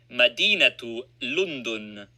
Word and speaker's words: مدينة لندن: When a word ending in ta merbuta without a vowel sign has another word dependent on it, the ta is pronounced, e.g., Madinatu Lundun. The city of London is pronounced Madinatu Lundun.